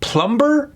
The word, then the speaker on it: plumber: God knows why there's a B in that word. Why would there be a B? Plumber?